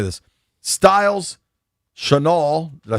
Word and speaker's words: Chenal: Styles, Chenal, did I say it right? Chanel?